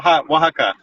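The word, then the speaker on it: Oaxaca: Um Okaka. Okay. Waka. Yeah. Yeah. Yeah. Is that how you say it? Yeah. Wa. Wajaka.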